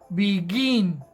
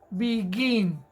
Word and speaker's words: begin: es empezar a comenzar tiene el acento en la última sílaba begin begin es la partícula en la que más fuerza hacemos cuando eso ocurre entonces